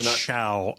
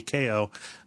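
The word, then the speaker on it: Chao: my uh my cow I don't know if that's how it's pronounced Chow I I always thought that was dumb I thought it should be KO but yes my Chow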